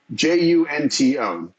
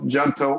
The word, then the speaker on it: Junto: they came up with j-u-n-t-o depending on who you ask it can be pronounced junto gento or junto where the J is uh not pronounced at all anyhow we needed a